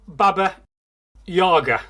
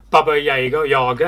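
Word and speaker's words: Баба-яга: First syllable of the second word should be around similar to German jar.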